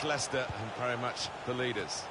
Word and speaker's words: Leicester: Premier League campaign was seeing the rest of the world try to learn how to pronounce their name ly sester ly Chester we got a lot of that than way but very much Leicester than very much the